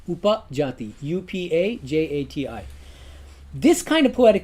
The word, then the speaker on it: Upajati: It's called upajati. The other kind of verse has 8 syllables in each quarter.